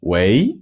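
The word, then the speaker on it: 喂: in Chinese just like we say hello in Chinese they say we or we usually the second tone way it's only used on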